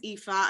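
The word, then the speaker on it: Aoife: amazing thank you so my name is ifa i know it's super hard to read but that's how it's pronounced and i am an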